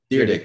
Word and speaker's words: Dyrdek: I am actually extremely excited for Rob Dyrdek or Didrik. How do you say his name? I watched Deerdick. There we go.